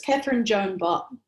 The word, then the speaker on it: Catherine Bott: Catherine Bott, is the correct pronunciation? Yeah, close enough. It's Catherine Bott. It's a very English name.